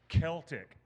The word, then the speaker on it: Celtic: Celtic is not pronounced Celtic. It's pronounced Celtic. There is a reason why.